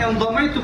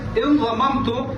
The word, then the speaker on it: انضممت: اور تیسرا جو لفظ ہے انضممت، جو کہ ہم انضمیت پڑھتے ہیں بالکل غلط ہے. یہ لفظ پڑھا جاتا ہے انضممت باب انفعال سے.